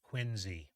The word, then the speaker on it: Quincy: they do it but it's pronounced quiny of course quiny like it's a z not a there there are